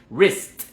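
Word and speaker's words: wrist: un tamborcito al final rust esta palabra es súper complicada en la ortografía porque se escribe con una doble u pero esa W no suena para nada recordemos que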